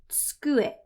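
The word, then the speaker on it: 机: But remember that whenever we have a vowel in between two consonants like this, a lot of the times the vowel gets dropped. An example of that is ski, ski. So we don't really say tsukue, we say tsukue. That u sound that's in the middle usually gets dropped.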